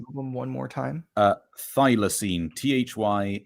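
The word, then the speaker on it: Thylacine: the artist and album one more time uh thilosene thy l a c i n e I'm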